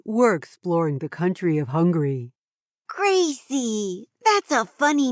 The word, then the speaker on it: Hungary: people who lived here if you listen carefully the two words are pronounced slightly differently Hungary and hungry of course Hungary has